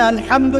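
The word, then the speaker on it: الحمد: প্রতিপালক বা মালিক আচ্ছা এখানে আলহামদু কেমন করে উচ্চারণ করেছেন গলার কোথা থেকে মাঝখান থেকে না আচ্ছা আলহামদু অর্থ সমস্ত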